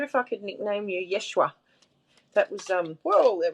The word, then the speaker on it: Yeshua: nickname i wonder if i could nickname you yeshua that was um well there we go that